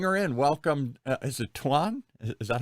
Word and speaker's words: Thuan: Is it Thuan? Is that how you say it? Thuan? Yes, it's Thuan.